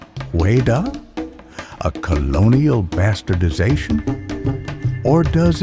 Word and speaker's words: Hueda: So we must ask ourselves, was Juda merely a European mispronunciation of Whydah?